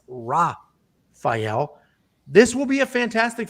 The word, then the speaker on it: Rafael: Rafael Fiziev, I always do the Brazilian pronunciation of these names, but he's not Brazilian, so it's not Rafael, it's Rafael.